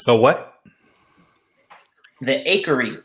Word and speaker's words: Acheri: it's so what the akery it's spelled a-c-h-e-r-i at some cultures not hatchery you throw me off